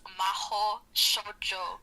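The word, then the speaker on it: Mahou Shoujo: It's not that hard to pronounce though. It's Miss Maho Shoujo.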